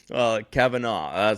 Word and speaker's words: Kavanagh: It's an Irish name, and the Irish way of saying it is Kavanagh. But Kavanagh. In America, they tend to say Kavanagh. But either way is good.